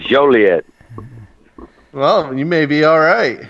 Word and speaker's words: Joliet: don't really like it he's been mispronouncing is a misdemeanor and Joliet it's not it ain't actually it is Joliet well you may be